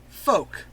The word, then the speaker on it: folk: Stop pronouncing the L!